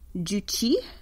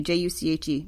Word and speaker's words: Juche: The official state ideology is something called Juche, spelled like juicy, J-U-C-H-E, Juche, and was developed by